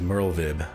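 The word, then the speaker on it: Merlwyb: right i know that her name is merle vib and the w is a v so it's almost like a german pronunciation but not 100 let's see look at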